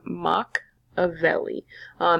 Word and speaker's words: Machiavelli: really really cool niccolò machiavelli you say his name mock of le & Machiavelli is going